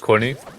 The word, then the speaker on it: Qunne: yeah I get this a lot so it's pronounced Courtney but over the years I just like don't